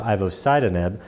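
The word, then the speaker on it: ivosidenib: months the idh1 inhibitor Ivo site anub pronounced differently than an acid nib Ivo sidon in that drug is now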